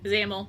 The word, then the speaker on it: Zamail: Zamail. That one I haven't been saying it right. Zamel. I don't care.